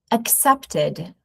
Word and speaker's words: accepted: The second sound is accepted.